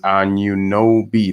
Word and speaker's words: Anunoby: Lawrence Chenkson's Anunoby. That's right. That's how we pronounce it.